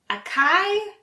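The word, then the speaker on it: açaí: how to say it acai acai the correct pronunciation is acai so it's a soft C sound and make sure to pronounce the ending e s IE let's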